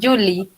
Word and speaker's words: Yuji: Julie, pero se escribe Yuji.